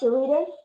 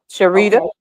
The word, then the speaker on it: Sharita: here's sh e charita is that pronounce Sharita yeah Sharita and then the other one